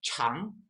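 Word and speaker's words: 强: 강강, 여기는 중국 발음은 깡, 앞에 강은 깡, 앞에는 깡이고 뒤에 강은 창, 이거는 창이기 때문에 구별이 됩니다.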